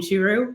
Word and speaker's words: Churu: vet okay and that way you are comfortable pronouncing it saying shiru when you talk to your veterinarian if they'd